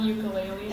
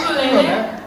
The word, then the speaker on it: ukulele: It's not ukulele, actually. He said ukulele. I said ukulele. Is that really how it's pronounced? Yeah, it's ukulele.